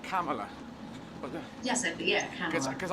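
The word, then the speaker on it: Kamala: yes now I I it's came am I pronouncing her first name like camela yes I yeah camea cuz I tended to go go Cala and I think no I don't think that's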